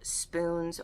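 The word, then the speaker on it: Spunes: It's also not spelled like spoons. It's spelled S-P-U-N-E-S. So there's that, but that's how it's said.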